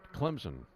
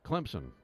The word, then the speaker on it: Clemson: he had gone to Clemson, and he said there's a P in there that you pronounce. What? He'd say Clemson. Like almost as if it were C-L-E-M-P-S-O-N.